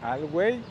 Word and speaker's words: Alhuey: vieran esta parte, amigos, de Alhuey, que como les digo, pues así se pronuncia lo que nos dijo la señora.